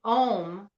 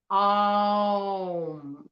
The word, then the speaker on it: Om: And Om compared to the correct pronunciation, which is Om. Om. So you go first into the O sound, to the Ah sound, to the Om.